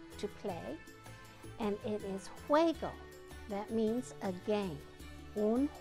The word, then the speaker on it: juego: Now there's a word that comes from jugar, to play, and it is juego.